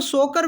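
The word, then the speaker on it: Tso Kar: परिसर इससे की जो सोकर के नाम से भी जाना जाता है टी यहां पे साइलेंट होता है अपने फ्लकचुएटिंग साल्ट लेकर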